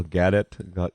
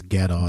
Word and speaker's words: Gadot: Gal Gadet. Gadot, what's her how do you pronounce her name? I think I think it's Gadot.